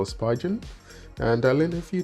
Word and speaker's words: Spigen: i learned how to pronounce the word speaking no spigen and i learned a